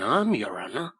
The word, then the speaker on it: arm: window sure it's an army he pronounced it arum an arm you goose who ever saw